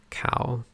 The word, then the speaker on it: Cao: Cow. The last name is pronounced like cow.